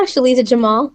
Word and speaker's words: Sheliza Jamal: Did I pronounce that right, Sheliza? Yeah, Sheliza Jamal.